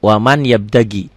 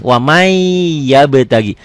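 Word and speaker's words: وَمَنْ يَبْتَغِ: tulisan dan bacaannya beda Tulisannya waman bacanya wamai n-nya masuk ke y kalau dilatenkan Coba ya tulis ya latennya waman Tulis w a m a n waman waman y a b yaab t a g i t a g i waman yabtagi ditulisnya waman yabtagi Latinnya dibacanya jadi wamai nih kayak gini wamai yabtagi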